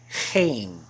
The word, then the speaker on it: geen: Remember a minute ago I said the double E is usually pronounced as an A sound? Well, that's how it's going to work in this word. This is pronounced geen. Geen. You'll probably notice right away that that G is quite different than the one we have in English. It's not a G or a J sound, but it's a sound,